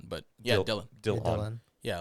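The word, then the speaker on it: Dillon: were to like look at the word and pronounce it would be delon but yeah dylan yeah like how dylan brooks is pronounced yeah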